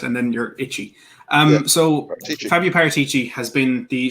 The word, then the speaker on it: Paratici: It's Paratici. Just run Parrot. Yeah, just run Parrot and Ticci. Just pretend Parrot and then you're itchy. So Paratici.